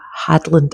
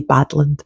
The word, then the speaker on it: Hadland: It had Steven Mangan in it, Arlo Hanland, Janie D, and Sarah Hadland. I always get her name wrong. I always try to say Badland.